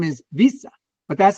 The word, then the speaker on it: Wiese: His real name is Visa but that's how it's pronounced pronounced in Dutch why?